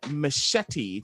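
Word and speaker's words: Michetti: hill steps january 6 richard machetti that is and it's not spelled like that but yeah it looks like his name is machete m-i-c-h-e-t-t-i yeah uh he allegedly took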